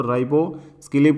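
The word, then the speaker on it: ribociclib: तो राइबोस्किलिब करके इसको प्रोनाउंस किया जाएगा।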